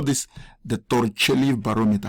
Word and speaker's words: Torricelli: I think the right pronunciation is the Italian name is Torricelli.